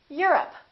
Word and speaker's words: Europe: Don't say I'm from Europe. This is stressed. The O, once again, is reduced. Repeat. Europe.